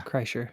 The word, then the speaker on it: Kreischer: Burt Kren, how do you pronounce his last name? Bert Kershaw? Kreischer? Yeah, Kreischer.